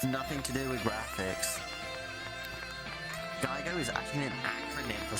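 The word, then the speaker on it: GIGO: It's pronounced Geigo, but it's not as G-I-G-O.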